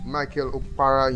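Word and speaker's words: Michael Okpara: She graduated from the University of how do I pronounce this now? Is it Michael Opara? Michael Opara University.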